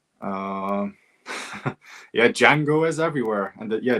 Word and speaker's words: Django: Like I said, um yeah, Django is everywhere and yeah, the D is silent.